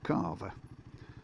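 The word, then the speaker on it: Calver: This is Yeah, Carver. And uh it's spelled with an L, but it's pronounced Carver.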